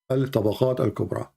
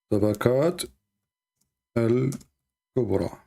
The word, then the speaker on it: Al-Tabaqat al-Kubra: Al-Tabaqat al-Kubra. So you have let me type it for you so you can learn how to pronounce it. Al-Tabaqat al-Kubra.